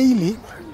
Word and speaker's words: Ely: inculta imposible de cultivar y la ciudad de ili bueno se pronuncia ili pero su nombre es escrito es segú Leo